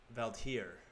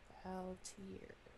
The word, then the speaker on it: Valdhir: Valtir. Valtir. It's spelled Valdhir. Haldir. Rhymes with Chaldeer.